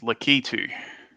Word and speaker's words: Lakitu: you say it because i've said lack it to my whole life i feel i feel lost oh i don't know let's uh i'm gonna have to look up the pronunciation of that now lack it too doesn't matter though according to gaming dot stack exchange it's lakitu lucky too i do like